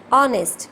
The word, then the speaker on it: honest: Honest, not honest, because H is silent here.